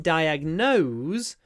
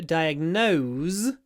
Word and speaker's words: diagnose: full vowels so in diagnose we have a full vowel no nose but in diagnosis we have a clipped vowel because we pronounce a s so diagnose has a z diagnosis has a s no diagnose no diagnosis